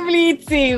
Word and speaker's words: Blitz: Y parte de sus disgustos es precisamente que la gente pronuncie su nombre con la O. Uh-huh. No le gusta que le digan Blitz, sino solamente Blitz, precisamente.